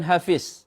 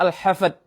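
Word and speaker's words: الحفد: dari lafaz naklau lafaz Yang kedua juga bukan Hafiz atau surah Hafiz dengan D tetapi dengan Dal yaitu surah al-hafad ha Fa Dal bukan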